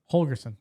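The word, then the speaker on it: Holgorsen: Holgerson, thank you.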